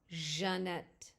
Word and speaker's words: Jeannette: J, pronounced like the S in pleasure, the J sound. Jeannette.